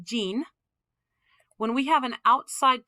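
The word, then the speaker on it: 人: Hito is sometimes pronounced jin.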